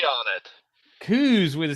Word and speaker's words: Cooze: Cooze. With a C on it. Cooze with a C on it.